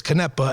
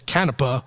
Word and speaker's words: Canepa: Canepa and then it's Canepa. We have a little debate. What is the correct way to say it? So in the family, because there's a lot of Canepas and Canepas, it's whatever they preferred.